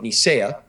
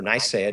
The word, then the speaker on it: Nicaea: There was something called the Council of Nicaea, or Nicaea, depending on whether you're pronouncing it in the Latin or the English.